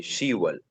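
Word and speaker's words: 시월: इसके अलावा हमारे साथ 10 को हम शिप नहीं बोलेंगे, शीवल मसलन 10वां महीना।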